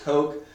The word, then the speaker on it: Koch: If you've ever heard of the Koch brothers, it's spelled K-O-C-H, but it's pronounced Coke.